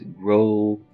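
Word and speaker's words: Gráinne: because I've realized that the kid is called Grain, generally pronounced as Gronu, or thereabouts. I have no idea if I'm doing that right.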